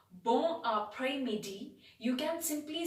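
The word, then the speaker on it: bon après-midi: which means good afternoon it is spelled as bong a pre media instead of greeting good afternoon by saying bon apres midi you can simply say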